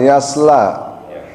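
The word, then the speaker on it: يصلى: Hati-hati di situ ada hurufnya shad bukan sin.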